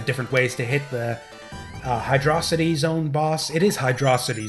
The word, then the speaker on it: Hydrocity: figure out for yourselves why it should be pronounced Hydrocity and not Hydrocity.